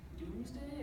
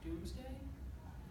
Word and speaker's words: Domesday: It's pronounced Doomsday. It's really weird spelling. It doesn't have two O's in it though? No. It's pronounced, it looks like Domesday, but it's actually pronounced Doomsday.